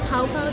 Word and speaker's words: Pao Pao: Is it Pao Pao? That's how it's pronounced.